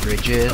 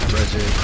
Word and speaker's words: Brigitte: It's not like it's Brigitte, right? Well, that's a German pronunciation. I mean, I see. It's that kind of name where it's like both. It's Brigitte and Bridget. Well, I think they would pronounce it the same way. She's Swedish, no? I call her Bridget.